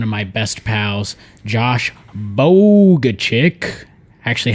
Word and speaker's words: Bogaczyk: i have one of my best pals josh bogga chick actually how do you say your name um josh bagachik yeah so josh bogack is here and uh